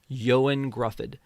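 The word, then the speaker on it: Ioan Gruffudd: Um I I pronounce for me Reed Richard's name because I don't know it how to pronounce it. Yoan Gruffford. Yoan Gruffford.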